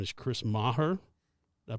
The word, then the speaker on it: Chris Maher: super excited to talk to his name is Chris Maher did I pronounce it right yes that's correct okay so